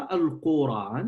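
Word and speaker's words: قرآن: Un autre avis, il dit en fait qu'on ne l'appelle pas Al-Qur'an, mais Al-Qur'an, avec la prononciation de l'A.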